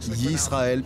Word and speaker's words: Yisrael: En fait, ça se prononce Yisrael parce que ça s'écrit Y-I-S-R-A-E-L.